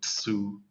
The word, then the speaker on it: zu: So there's that T at the beginning. Exactly. So what I always imagine that as a TSU, and I think that makes it a bit easier. So zu. Su.